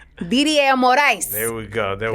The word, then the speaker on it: Morais: So, you almost had the last name pronunciation right. I said it. I was like, But it's all good. It's all good. Morice Morice.